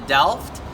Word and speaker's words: Delft: I'm here in Delft, the Netherlands. Is that how you say it? Yeah. Delft, Holland?